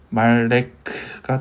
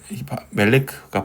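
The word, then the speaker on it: מֶלֶךְ: 말레크가 되는 건데, 여기서 아에는 사실 발음하기 힘듭니다. 아에, 말레크보다 멜레크가 발음하기 더 쉽잖아요. 에니까.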